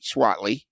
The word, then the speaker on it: Swaitly: The I is the I is silent. Uh uh. So it's S wi A T L Y. Is that correct? Yeah. Okay. Correct. So, it's Swat and then a Lee.